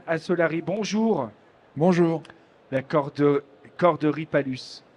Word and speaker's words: Palus: Bonjour, La corderie Palus. On dit Palus ou Palus?